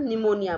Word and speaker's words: pneumonia: PNEMONIA, P is silent here, P इसमें silent रहता है, इसे हम निमोनिया बोलते हैं।